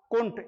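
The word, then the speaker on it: couldn't: और जो professionally speakers होते हैं, those are the excellent speakers, तो वो कुंट इंडिया में भी स्टाइलिश इंग्लिश बोलते हैं या अच्छी इंग्लिश बोलते हैं, दे स्पीक फ्लुएंट इंग्लिश।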